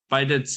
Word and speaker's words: bidet: How do you pronounce that? It's pronounced bidet. Bidet.